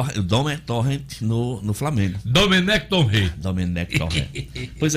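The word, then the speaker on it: Domènec Torrent: O Sampaoli no Atlético Mineiro e o Domenech Torrent no Flamengo.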